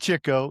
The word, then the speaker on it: Chico: Is it Chico or is it Chico? It's Chico cuz he gets the chicks.